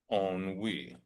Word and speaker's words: ennui: Ennui. This is a word of French origin, right? But in English, we pronounce it similarly, but slightly different. We say ennui.